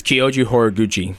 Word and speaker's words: Kyoji Horiguchi: 25th who are you fighting how do you pronounce this guy's name it's kyoji horiguchi hor gu thank goodness you did that instead